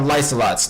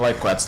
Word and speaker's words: Lycelot: So, these things are called Lycelots, not Lyquats like I thought.